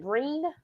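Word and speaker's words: Gruene: Like what's that one that's green, but it's spelled Guene? But you pronounce it green?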